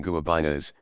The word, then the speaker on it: guabina: Dice las casas, hay otros pex que llaman guabinas, la media sílaba breve.